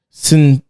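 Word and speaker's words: Cinsaut: a cross between a piano noir and a sin i don't i don't really know how to pronounce i wanted to c-i-n-s-a-u-t um it was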